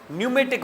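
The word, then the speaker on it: pneumatic: किससे निकला हुआ है यह पी साइलेंट हैसे आपको पता होगा यह इंग्लिश ग्रामर और इस लैंग्वेज की का उसूल है कि अगर पी के बाद कोई वल ना आए तो प साइलेंट हो जाता है बहुत सारे ऐसे साइकोलॉजी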